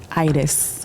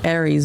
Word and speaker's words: Aires: Como like Buenos Aires. Buenos Aires. Aires. Yeah, is what I would call it. Let's I know definitely. everybody says Aries, but it's Iris.